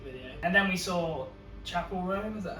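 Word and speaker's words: Chappell Roan: And then we saw Chapel Roan, is that how you pronounce Yeah.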